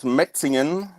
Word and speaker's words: Metzingen: haven't pronounced it yet because I'm afraid I'll mispronounce it. Okay, we're from a small town called Metzingen.